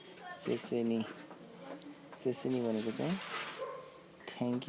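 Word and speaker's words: 谢谢你: अब थ्याङ्कको प्रोनाउन्सिएसन उच्चारण कसरी गरिन्छ भने चाहिँ म सेसेनी भनेको चाहिँ थ्याङ्क यू भनेर भनिन्छ चाइनिज भाषामा।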